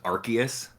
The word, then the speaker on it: Arceus: pokemon's name pokemon legends arceus with a hard k i'm in the arceus